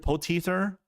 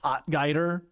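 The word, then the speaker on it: Potgieter: Aldrich Poteether, as my fellow South African friend tells me how to say it. Not Potgeider.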